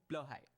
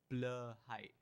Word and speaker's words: Blåhaj: I wanted the most was the Blahaj, or as it's actually called, the Blåhaj or the Blåhaj. Trust me, I'm Danish. I know the bastardist language of Swedish. Pronounce it with me. Blåhaj. Blåhaj. Blåhaj if you're speaking Swedish, but why would you speak Swedish?